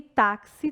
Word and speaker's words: táxi: E táxi tem um som de KS.